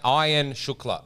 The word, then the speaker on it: Ayan Shukla: It's actually pronounced like Iron Man, he told me. Or ironing your shirt. Iron Shukla.